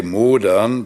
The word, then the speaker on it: modern: Affection for Modernity, and place the accent on the first syllable than rather on the second, and say modern, which in German means to mold or rot, rather than modern instead of modern.